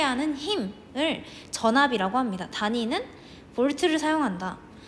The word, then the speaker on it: 볼트: V는 볼트라고 읽습니다.